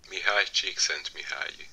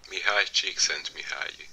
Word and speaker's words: Mihaly Csikszentmihalyi: namn som jag kommer ha väldigt svårt att uttala. Så det låter så här. Mihaly Csikszentmihalyi. Mihaly Csikszentmihalyi.